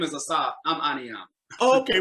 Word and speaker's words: Ahneeahm: Ahneeahm? How do you pronounce your name? I'm sorry. His name is Ahsaf. He's actually borrowing my account. So his name is Ahsaf. I'm Ahneeahm.